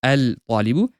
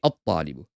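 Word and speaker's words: الطالبُ: You don't say al-talibu, because try saying it's difficult, isn't it? As opposed to al-qalamu. Rather, you say at-talibu.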